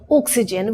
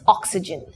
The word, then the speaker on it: oxygen: Well, if you go to Kerala, you might come across some people saying oxygen, which is wrong. It's oxygen. So the correct pronunciation is oxygen.